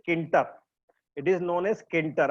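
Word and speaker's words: Tkinter: हुई है किंटर की, लेकिन यहाँ पे टी साइलेंट है ना, तो टी साइलेंट है, तो टी साइलेंट है, सिर्फ बोलते हैं इसको हम लोग, जो प्रोनाउंसिएशन होता है इट इज नोन एज किंटर।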